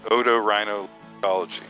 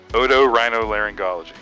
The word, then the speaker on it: otorhinolaryngology: So the big long name is otorhinolaryngology. And so Wow, so say that one more time. That's otorhinolaryngology.